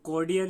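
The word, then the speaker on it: cordial: उसके बाद थर्ड है तो कोडियल, यहाँ पर आर साइलेंट रहेगा।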